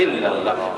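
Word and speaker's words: إلا الله: यानी एक्सेंट में यार प्रनंसीएशन में नून नहीं आएगा तो शायद इलाही इला लिखा हुआ यह है लेकिन पढ़ने में हम पढ़ेंगे औषधों अल्लाह इलाही इल्लल्लाह नूर साइलेंट हो जाएगी इसलिए मैंने पूछा आगे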